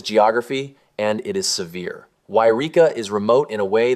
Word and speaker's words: Yreka: A quick note before we begin, it's Yreka, not Eureka.